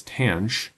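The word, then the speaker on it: tanh: Moving on then, tangent hyperbolic sometimes shorthand said as tang t a nh of x is equal to cinch over kosh.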